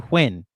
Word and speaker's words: Huynh: It's Huynh.